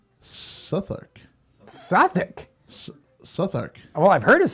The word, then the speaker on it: Southwark: know, so maybe it's Sourk. Maybe it is like you would say a sou'wester, right? You'd take that whole south out, a sou'wester, a southwester, right? So maybe it's Sourk.